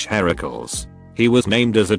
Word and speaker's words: Heracles: finding out about this now but it's actually heracles heracles he was named as a tribute for hera